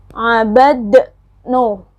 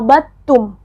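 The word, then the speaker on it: عبدتم: Abad, no, bukan seperti itu. Bacanya abadtum, bukan abad, no.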